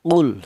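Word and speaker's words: قُلْ: Cara bacanya jelas. Qul seperti itu. Jangan dibaca ikhfa atau samar.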